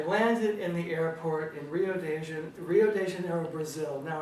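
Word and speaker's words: Rio de Janeiro: in the airport in Rio de Rio Deano Brazil now I can hardly say it they pronounce it oh de janeo Brazil I had my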